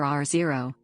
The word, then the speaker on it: R0: The basic reproduction number, R0, \R sub0, pronounced R naught or R0, of the virus has been estimated to be between 1.4 and 3.9.